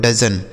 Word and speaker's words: dozen: आगे लिखा है DOZEN, इसे पढ़ा जाता है दोस्तों डजन। इसे क्या पढ़ा जाता है, डजन।